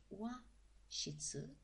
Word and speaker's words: 和室: It's pronounced wa shitsu, and the two characters are these, wa and shitsu.